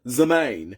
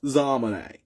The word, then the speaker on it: Zalmane: And now I'm getting called Zamaine when it's pronounced Zalmane.